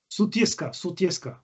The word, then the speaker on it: Sutjeska: pretty much the post, Sujetsa? How do you pronounce that? Which one? The Sujetsa, something like that? Sutjeska. Sutjeska? Yeah.